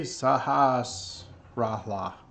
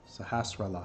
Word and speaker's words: Sahasrahla: See, Sahasrahla. How do you say that? Sahasrahla. I can never pronounce his name.